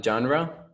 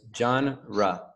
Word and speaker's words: genre: then you have the genre this is a this is for pronunciation right because you can probably confuse it with the spanish pronunciation but it's genra genre genre okay general and what